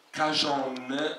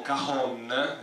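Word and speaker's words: cajón: scatola particolare la scatola si chiama cacion o kahon in base alla zona delle Ande dove lo vogliamo pronunciare o cacon che però in Veneto significa ben altro Quindi forse è meglio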